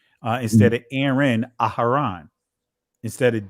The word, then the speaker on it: Aharon: You'll see it pronounced just the way that you hear it's being pronounced. Instead of Aaron, Aharon.